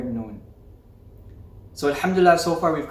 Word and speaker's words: noon: of our tongue so the letter noon is pronounced the makraj's articulation point is the tip of your tongue touching the gums close to your top central incisors your top front teeth two front teeth now it's a little